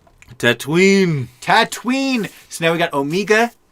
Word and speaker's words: Tatooine: the pikes coming to tatooine tatwin tatum tatween so now we got omega and tattooing tatooine no three syllables here it's only two baby my name's omega